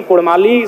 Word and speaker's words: कुड़माली: इसीलिए मैं मांग करता हूं कि र के स्थान पे अड़ किया जाए। क्योंकि कुड़माली साहित्य की बात करें तो अड़ का महत्वपूर्ण स्थान है, जैसे काड़ा, माड़ा, भेड़ा, पीड़ा, डाड़ा, गौड़, मोड़, ये उच्चारण केवल कुड़माली साहित्य में ही संभव है।